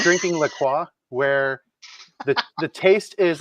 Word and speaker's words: La Croix: for the flavors in La Croix. Is that how you pronounce that? Yes.